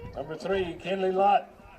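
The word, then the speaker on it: Loth: Last name spelled L O T H but pronounced lot.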